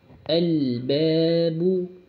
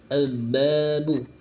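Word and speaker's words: الْبَابُ: Contohnya di sini Ustaz contohkan yaitu al-babu. Al-babu. Perhatikan pada al. Pada bacaan al-nya harus dibaca jelas. Ya. Harus dibaca jelas. Tidak boleh membacanya al-babu, al-babu. Sehingga alnya tidak dibaca. Harus dibaca jelas alnya.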